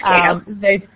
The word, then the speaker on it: CATO: And from that, our Cato, however you pronounce that, Cato. Yeah, it's Cato.